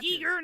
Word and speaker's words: Giger: my favorite new His name is pronounced Giger, not Ger.